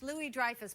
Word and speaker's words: Louis-Dreyfus: well there ya know it's actually French Louie Dreyfus but you're always mispronouncing